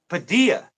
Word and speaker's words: Padilla: I think it's pronounced Padilla. Padilla. Padilla. Yeah. Okay, I'm adding L's and stuff.